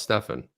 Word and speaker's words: Stefan: So how do you get Stefan? Well, Stefan has an AN, Jeff. And this is where people that are over 30 understand that, but people under 30, it's always pronounced Stefan. Stefan. So, yeah, that's Stefan.